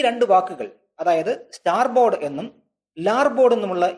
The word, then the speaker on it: starboard: ബോർഡ് എന്ന് പറഞ്ഞുവന്നു നൂറ്റാണ്ടുകളിലൂടെ ഈ വാക്കിന്റെ ഉച്ചാരണം സ്റ്റിയർ ബോർഡ് എന്നതിൽ നിന്ന് മാറി സ്റ്റാർ ബോർഡ് എന്നായി മാറുകയും ചെയ്യും കപ്പലുകൾ കടലിലൂടെ തുഴഞ്ഞു പോയാൽ